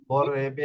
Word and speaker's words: vorrebbe: amore non possiede ne vorrebbe বররেবে এখানে essere বররেবে না normal ভাবে বললে হবে না বররেবে ঠিক আছে বিপ্লবে করবে বররেবে vorrebbe essere posseduto poiché l'amore basta all'amore.